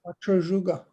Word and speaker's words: Wachozhuga: Can you tell me how you pronounce that, Steve? Wachojuga.